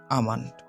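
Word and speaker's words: almond: এখানে এলটা সাইলেন্ট থাকবে, আমন্ড।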